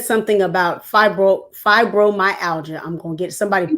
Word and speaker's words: fibromyalgia: in the chat that was phonetic for me. It says fibromyalgia. Okay, I'm gonna Mhm. keep that where I can see it. Thank you, Miss Elois. She put it in the chat for me phonetically so that I can stop messing up over it.